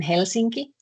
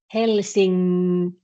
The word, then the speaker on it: Helsinki: But if you combine it with K, you actually don't do the N in the same way anymore. It kind of assimilates to K. So you pronounce N in the same place where you pronounce K.